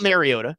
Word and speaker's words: Mariota: Mario I believe is like the actual Hawaiian pronunciation, but like I don't know if anybody actually uses that, but Mario, it's not Mariota. It's Mariota. We We learned that back in the day.